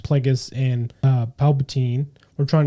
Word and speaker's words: Plagueis: I think they, they heavily implied, but did not write, say it correctly, which is Plagueis and, uh, Palpatine were